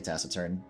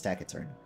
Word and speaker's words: taciturn: I was going to say taciturn, and that's how I've used to pronounce it, but I've been told it's taciturn.